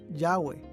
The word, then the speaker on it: Yahweh: arqueológicos han indicado que este término debe ser pronunciado yahwe yahwe es a menudo